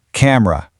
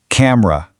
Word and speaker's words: camera: Camera. You really want to focus on that r sound at the end. Camera.